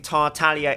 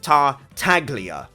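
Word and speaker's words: Tartaglia: pretty passive aggressive and telling me that i'm pronouncing tartalia incorrectly and that it should be tar taglia oh no oh no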